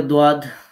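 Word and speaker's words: ض: তারপরে দোয়াদ, এই যে জিহ্বার গোড়ার কিনারা, দেখেন এখানে আমি ব্র্যাকেটে লিখে দিয়েছি যে ডান অথবা বাম, আপনি যে কোনো কিনারা দিয়েই উচ্চারণ করতে পারেন। তো তার বরাবর উপরের মাড়ির যে দাঁতের গোড়া আছে তার সাথে লাগিয়ে দোয়াদ মোটা করে উচ্চারণ করতে হবে।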